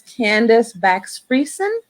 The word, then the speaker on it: Candice Bakx-Fiersen: And this afternoon, my very, very special guest, lovely lady, Miss Candice Bakx-Fiersen. You betcha. Thank you for having me. Am I pronouncing your name correctly?